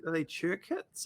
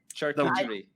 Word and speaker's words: charcuterie: Like, I know Winston doesn't know how to pronounce it, but are they churkits? Are they churlikits? Are they Charcuterie like- board. Charcuterie.